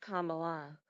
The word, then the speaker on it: Kamala: hold Harris noted that her name is pronounced Kamala like the punctuation mark and that it means